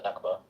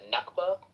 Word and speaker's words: Nakba: happened in uh in in Palestine for the Nakba.